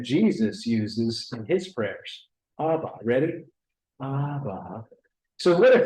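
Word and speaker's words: Abba: exhale on the inhale the two syllables are ABA try that ABA now that's an old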